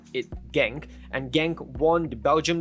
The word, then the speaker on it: Genk: the list is krc genk from the belgium pro league a well i believe i pronounced name wrongly it sounds like hank but yeah i'm just going to call it genk and genk won the